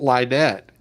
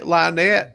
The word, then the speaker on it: Lynette: oh he pronounced it Linette yeah oh he pronounced it Linette instead of right well it's still spelled the same way Lonette you can't convey